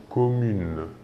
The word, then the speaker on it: commune: Par exemple, l'adjectif commune commune ici est bien un adjectif féminin se terminant par un e que l'on ne prononce pas. OK ? Nous disons commune.